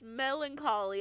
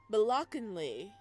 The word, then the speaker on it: melancholy: for this word uh it's Melancholy it's Melancholy I have to stop and thank every every freaking time it's Melancholy because he pronounced it Bly and so that's always in my head Melancholy okay you left